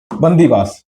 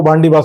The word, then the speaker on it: बंदीवास: बंदीवास। कौन सी? बंदीवास। अब प्रोनाउंसिएशन के कारण क्या बोलते थे अंग्रेज? इसको बांडीवास बोलते थे।